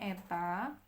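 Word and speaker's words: η: Ini bacanya eta, ini bacanya epsilon.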